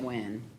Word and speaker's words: Nguyen: I think they say it when.